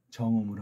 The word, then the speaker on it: 정음: 정음으로 하는 거예요. 정음. 정음. 정음. 정음. 그렇게 발음하셔야 돼요. 정. 정. 음. 음. 음자는 안쪽에서 나오는 거죠.